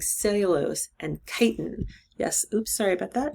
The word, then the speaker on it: chitin: function like cellulose and chitin yes oops sorry about that this word is chitin um whenever you see a ch at the beginning of a word in biology it sounds like a k so we're going to